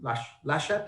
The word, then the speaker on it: Laschet: And the sort of corollary to that is the new CDU leader, Armin Laschet, how do I pronounce that?